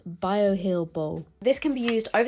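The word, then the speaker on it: Bioheal Boh: Seeker Barrier cream Mist another correction this is pronounced bio heel bull this can be used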